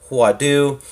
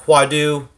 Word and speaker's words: Huadoo: and in the front I believe it is pronounced huadu um so this is